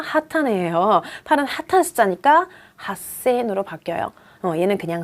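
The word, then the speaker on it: 八千: 8은 핫한 숫자니까 핫센으로 바뀌어요.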